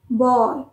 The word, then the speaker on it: bawl: पास कर सकते हैं दोनों में से कोई भी बाउल नहीं है यह चीज हमेशा ध्यान रखिए बी ए डब्लू एल भी बाउल नहीं है और बी ओ डब्लू एल भी बाउल नहीं है बी ए डब् एल बल बल और बी ओ